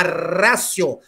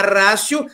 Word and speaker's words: ratio: é a última rácio na verdade escrita é a escrita é a última rádio né ultima ratio mas é é pronunciado última rácio porque ela Latim é última rácio significa que a última